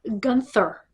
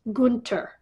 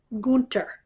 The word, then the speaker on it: Gunther: I think Punk will beat Gunther. And yes, I'm pronouncing it correctly. It is not Gunther. It's Gunther. The H is silent.